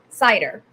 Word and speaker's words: Seiter: Seiter.